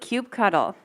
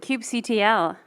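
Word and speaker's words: kubectl: pull who pronounces it Cube cuddle who pronounces it Cube CTL wow clear preference here uh any other pronunciations Cube control right why didn't I not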